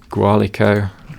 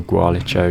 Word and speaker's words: Gualicho: Gualico, or Gualicho, you can say really either, both are accepted.